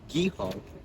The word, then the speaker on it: Guy: we have what's called guy Hall which what actually pronounced as Gul it is an boys